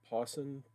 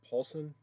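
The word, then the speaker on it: Puason: robert pwassen but um pawson paulson you pronounce his name different than it looks but this is not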